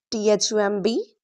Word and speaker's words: thumb: Silent B usually comes after M or before T. So when you see MB at the end of a word to not pronounce B right let's see examples as T h U M B thumb C O M B com D E B T debt not dep u B T not subtle it's subtle L M